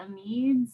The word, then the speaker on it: amides: Some people that I respect pronounce them amides, but that's one that there's a little bit of leeway. Amide or amide, either one of them is fine.